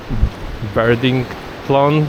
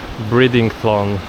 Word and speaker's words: Bridlington: W każdym razie początek słowa zaczyna się od byry i, a nie by i ry. Czyli zamiast Birdington to jest Bridington, czy coś w tym rodzaju.